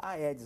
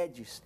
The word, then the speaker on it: Aedes: Todo mundo fala Aedes, mas a pronúncia correta é Aedes, Aedes aegypti.